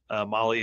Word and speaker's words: Mahle: Elevate your ride with Molly Motorsports, where performance meets precision. And for everybody that's listening to this, Molly is spelled Mahle, and you can find everything.